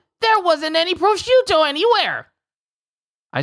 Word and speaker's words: prosciutto: Prosciutto. There wasn't any prosciutto anywhere. I said that wrong. I said that weird.